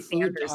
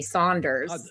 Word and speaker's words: Sanders: Right now you should know how to pronounce Bernie Sanders name by now. It's not Bernie Saunders last I checked.